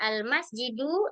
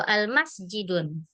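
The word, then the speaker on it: الْمَسْجِدُ: Kalau ini bacanya almasjidu atau almasjidun? Almasjidu ya. Karena dia memakai alif lam.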